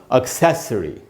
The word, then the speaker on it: accessory: Alternative में ये दोनों का पैटर्न सेम ही है, और एक्सेसरी में सै पर, ए पर स्ट्रेस है, तो उधर ही रुकेंगे ज़्यादा। एक्सेसरी, एक्सेसरी, स के बाद आधा अ है, यानी स पर ज़रा सा रुकना है।